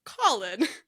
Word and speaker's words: Colon: Um, so it's spelled like Colon, but it's pronounced Colin.